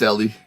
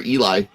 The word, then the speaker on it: Ellie: Am I pronouncing that correctly? Is it Ellie? Or, Yeah, it's Ellie. right on. Okay. It's funny. A lot of people call her Eli because that's what Eli. it's what it looks like.